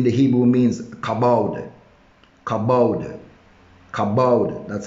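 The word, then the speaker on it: כבוד: in the in the hebrew means kabald kabod kabod that's how it's pronounced and it means wait hallelujah figuratively in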